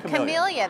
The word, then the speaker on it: Camellia: Without getting too deeply into the latest book, The Last Camellia. Mm-hmm. Yeah, am I pronouncing that right? You are. Camellia, the flower, yes.